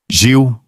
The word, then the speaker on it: Gilles: O que é contraintuitivo é o primeiro nome, onde o G não é o de gato nem o do inglês. É o J de janela, que o brasileiro produz desde criança. Gil, uma sílaba só.